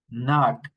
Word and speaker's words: knock: Now, the silent K, we don't pronounce the K, this group of words. So we say ni, nu, knickers, knife, night, knit, knitting, knob, knock, not, okay?